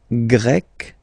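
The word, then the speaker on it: grec: form GRE feminine form you write them differently but then if you listen carefully gre gre you pronounce them the same way okay Portugal portug portuges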